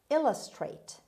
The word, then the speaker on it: illustrate: undernourished word number four illustrate illustrate illustrate as you see the stress is at the beginning means make clear or